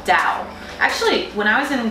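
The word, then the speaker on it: Dão: from a region called Dao actually when I was going to bow is vertical actually pronounces down like you're going down but let's just say it's Dao because it's Dao and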